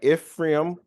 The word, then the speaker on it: Ephraim: So Chronicles 7, it focuses on the descendants of Ishkar, Benjamin, Naphtali, Manasseh, Ephraim. I'm saying it right. Ephraim.